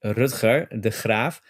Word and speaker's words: Rutger de Graaf: It's a typical Dutch name. So the proper pronunciation in Dutch would be Rutger de Graaf.